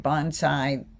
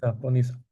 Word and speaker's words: Bonisa: Uh you get, you know, you get bonsai. Bonasai, how do you say it? Si is bonisa.